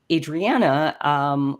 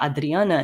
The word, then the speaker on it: Adriana: living here in Canada, I used to go by Adriana when telling people my name, but I've in more recent years have tried to embrace more of the Portuguese pronunciation of my name, so going by Adriana instead, because I've realized that